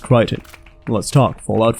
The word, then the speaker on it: Crichton: except to threaten to press charges yo it's pronounced Crichton let's talk fallout 4 visually the game is